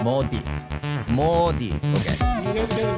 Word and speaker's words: Modi: We have good plans in coming years thanks to uh to Mi Moody Mi. How do you say it? Modi Modi.